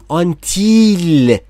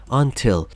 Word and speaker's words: until: بچه ها تلفظ آی رو دقت کنید. آی به اون صورتی که شما شاید شنیده باشید تلفظ نمیشه. خیلی ها میگن until. نه عزیز دلم, until, until, until, یک صدا بین ای و ای.